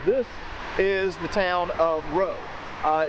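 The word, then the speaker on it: Rots: town right here this is the town of row uh it's spelled r o TS so an American redneck like me would have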